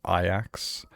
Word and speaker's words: Ajax: You probably don't have to as often, but still, it's like, how often do you have to tell people it's pronounced Ajax? And they're like, oh, sorry. Why is there a J in there?